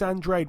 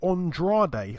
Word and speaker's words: Andrade: Demetrius Andrade.